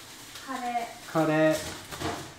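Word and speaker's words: カレー: Kare.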